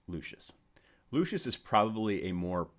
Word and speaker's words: Lucius: had a sneaking suspicion that it was actually pronounced luscious well miss degeneres confirmed for me that it is actually pronounced lucious lucius is probably a more popular artist than